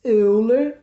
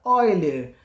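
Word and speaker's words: Euler: de relação de boiler nós escrevermos eu ler mas se pronuncia ó ele que é essa forma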